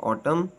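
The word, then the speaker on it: autumn: talk वक would should silent N एन इज not pronounce following M एट द एंड ऑफ the word किसी अल्फाज के आखिर में एम के बाद एन आए तो यह आवाज नहीं देता जैसे ऑटम hymn silent P पी इज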